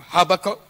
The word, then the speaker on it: Habakkuk: Habakkuk, or Habakkuk, depending on pronunciation, the third chapter.